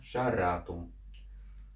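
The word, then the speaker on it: šarratum: Последний слог долгий, а не сверхдолгий. Идем дальше. Следующий слог. Ра. Видим гласный с черточкой, он долгий, значит подходит и ударение на шаратум.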